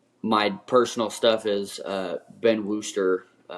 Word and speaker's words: Wooster: And my personal stuff is Ben Wooster, Wooster spelled like rooster, but with a W.